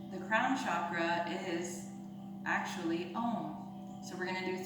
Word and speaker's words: Om: We're going to take a deep inhale, and remember there's 3 syllables to Om. A, U, M.